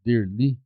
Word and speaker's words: Derli: Você já percebeu que no meu nome Derli, quando você corta a sílaba no meio der li e você fala a sílaba da da segunda pra primeira vai dar líder.